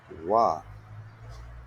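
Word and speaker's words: は: it is pronounced as wa. So what we are talking here, when the ha is used to mark the topic of the sentence, it is pronounced as wa.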